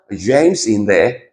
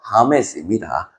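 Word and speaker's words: James: 그러니까 예를 들어서 미국 친구면 이 친구 이름은 뭐예요? 제임스인데, 그죠? 근데 이게 아르헨티나, 뭐 브라질 친구라면 이 친구 이름 뭐예요? 하메스입니다. 알겠죠?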